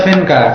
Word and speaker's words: Vandka: tangan Teuk tangan oke venka Iya tulisannya gimana itu tulisannya F eh sori sori v v a n DK dibaca fenka Dibaca fenka itu pelafalannya